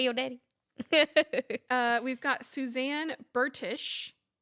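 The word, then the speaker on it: Bertish: We've got Suzanne Burtish, not British. Burtish.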